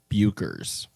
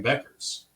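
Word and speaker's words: Bueckers: uh breaking news Google would like us to pronounce it Paige buers buers so buers is the correct pronunciation according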